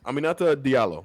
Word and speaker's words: Aminata Diallo: Her name is Aminata Diallo.